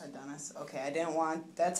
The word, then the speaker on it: Adonis: pronounce your first name I pronounce my first name Adonis Adonis okay I didn't want